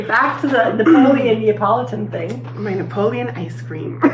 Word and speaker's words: Neapolitan: Napoleon. Neapolitan.